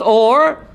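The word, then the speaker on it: אור: Also or, but instead of with an ayin, with what? With an aleph. It's pronounced or, but with an aleph it means what? Light.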